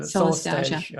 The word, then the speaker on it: Solastalgia: So tell me how to pronounce it. Solastalgia.